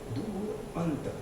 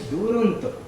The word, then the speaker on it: Duronto: No, Duronto is Duronto, the far end. Very few people can pronounce it correctly. Many people pronounce it like the Canadian town Toronto. It's actually Duronto.